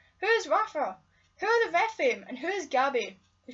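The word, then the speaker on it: Rephaim: The Repheme series. If you want to know how that's spelled, it's R-E-P-H-A-I-M, Repheme.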